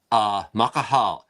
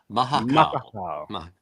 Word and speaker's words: Mahakaal: Mahakaal. Mahakaal.